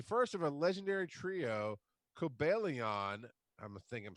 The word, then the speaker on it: Cobalion: So it is pronounced, according to my book, Cobalion. So I did say it basically right. Cobalion.